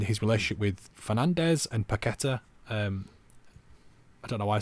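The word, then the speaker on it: Paquetá: Even though I think it's Paqueta is the correct pronunciation of it.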